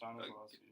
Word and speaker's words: Stanislavski: Is that how you pronounce it? Yes, Stanislavski.